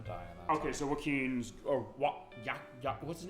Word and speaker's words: Joachim: it's pronounced like a ton of different ways when people see it. But So Joachim is how the game pronounced. So I'll make sure I pronounce Joachim that is right. how the game pronounces it.